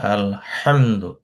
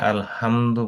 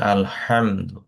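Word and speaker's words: الحمد: যেহেতু এটা উচ্চারণটা হবে আলহামদু। অনেকে আলহামদু বলে, যদি মাখারিজটা ঠিক মতো ক্লিয়ার না হয় তাহলে অনেক সময় অর্থ চেঞ্জ হয়ে যায়। বলতে হবে আলহামদু।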